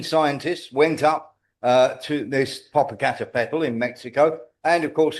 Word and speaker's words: Popocatépetl: There was one in Mexico called Popocatépetl. I've pronounced that right.